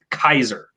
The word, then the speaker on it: Caesar: so no it's i so the most the most iconic example of this is the word caesar like julius caesar right uh and it is it's pronounced in um the way they they talk about latin nowadays as they've analyzed how they think it was spoken is kaiser uh like you know german for kaiser uh because it's that's